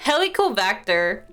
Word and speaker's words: Helicobacter: Helicobacter. Bacter, not V.